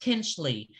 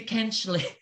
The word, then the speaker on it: Kinchley: Okay, so sometimes they do pronounce the H, okay, with a, as a H.